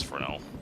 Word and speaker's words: Fresnel: And I know John Cruz said Fresnell, but I'm pretty sure it's pronounced Fresno. It is Frenel.